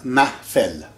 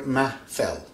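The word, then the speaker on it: محفل: Of course it has to have an H here, something you don't pronounce very well, but we do, ma, fell.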